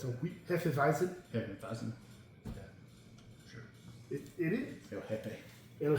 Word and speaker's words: Hefeweizen: Hefeweizen?